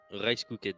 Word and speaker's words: Rice Cooked: Alors c'est bon, c'est écrit C'est que- RICE, Cooked. le D à la fin.